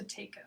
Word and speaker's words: Buteyko: Now, I don't exactly know how to pronounce this. Buteyko. Thank you. Buteyko breathing is a really interesting breathing that requires you to close one side of your nose.